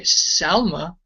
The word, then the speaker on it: Salma: we've got here look it's spelled with a hey not a not a noon so it should be say Salma in Ruth 420 but